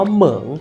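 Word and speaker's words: 萌: อาทิตย์ พระ จันทร์ อ่า คำ นี้ เนี่ย จะ อ่าน ว่า เหมิง เสียง อ่าน ยัง ไง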